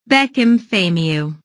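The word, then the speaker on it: Bekim Fehmiu: So let's go right to the Albanian translator to pronounce it. Beckham Famiu.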